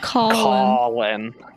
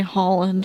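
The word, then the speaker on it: Cawlin: yeah but it's like it's like spelled like in the most like frustrating way possible it's like c c a w l i n calling like i heard you say holland for some reason oh my goodness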